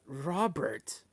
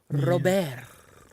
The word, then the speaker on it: Luis Robert: Oh my god, Robert. It's Luis Robert. Ay, perdón. The T is silent. Robert.